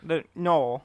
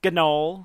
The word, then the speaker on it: gnoll: The Noel. Yeah. There's I saw. I know the G is confusing. Yeah, it threw me off. You could just pronounce Gnol, Gnoll. and I will judge you harshly.